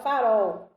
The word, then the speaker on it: farol: Por exemplo, palavra farol. Farol! Perceberam aí a última sílaba pronunciada com mais força?